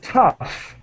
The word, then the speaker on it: tough: meaning of talk time t o uu g h time ah the pronunciation is tough and so that uh